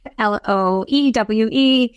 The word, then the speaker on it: Loewe: Like the Loewe's and so forth, and people don't know it's pronounced Loewe, Loewe, Yes.